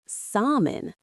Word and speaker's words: salmon: In standard English pronunciation, the L is completely silent. You should be saying salmon. It sounds exactly like salmon.